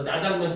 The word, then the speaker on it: 짜장면: 굉장히 흔한 내용이에요 그래서 대표적으로 우리가 짜장면 같은 경우도 원래 표준 표기나 발음은 자장면 있니다 왜냐면 그게 중국의 작장면이라고 하는 면에서 온 유래한 그 음식이거든요 그런데 이제 우리나라 보면서 자장면이 되었고 근데 그 자장면은 사람들이 하도 이제 강조해서 짜장면 짜장면 하니까 현재는 짜장면도 복수 표준을 인정을